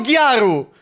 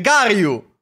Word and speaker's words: Garyu: È Garyu o Gyaru? Gyaru è quella giapponese. Garyu.